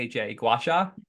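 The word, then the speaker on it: gua sha: going to butcher it I just spell it Gua s ha gacha oh you said it perfect GHA um so gacha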